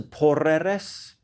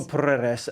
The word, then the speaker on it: Porreres: I think it must be, because the Spanish like to roll their R's. So Porreres.